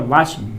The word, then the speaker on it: watched: इसका जब उच्चारण करते हैं तो वाच ड नहीं ट, वाच्ड।